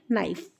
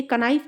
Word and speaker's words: नाइफ: नाइफ। तो इसको हम के नहीं बोलेंगे, कनाइफ नहीं बोलेंगे, बिकॉज हमारा जो के है यहाँ पर वो साइलेंट है। इसको हम खाली नाइफ बोलेंगे।